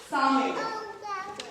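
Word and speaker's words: Samhain: Halloween is actually summit. अगर youth में से कभी किसी ने स्पेलिंग लिखने हैं, इस वर्ड को लिखना है, तो लिख सकता है।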